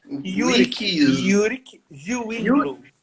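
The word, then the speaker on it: Ulrich Zwingli: É Yurik Zwingli. É pronúncia.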